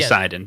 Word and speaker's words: Sinden: But it should be Sinden, but whatever.